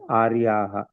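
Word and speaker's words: आर्याः: We will pronounce as Aryaha.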